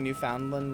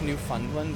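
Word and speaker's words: Newfoundland: Finland no Funland what but it's New Foundland right the word is found it's in it pronounce new Funland but that's not really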